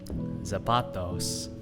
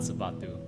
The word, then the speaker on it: zapato: Zapatos. Zapato. Yeah, not zapatu.